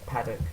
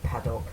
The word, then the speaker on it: Paddock: Well, yeah, that should be Paddock. I don't know why I said Paddock. People just mispronounce the name Paddock quite a lot, as it turns out. They seem to think that the O requires extra, what is it?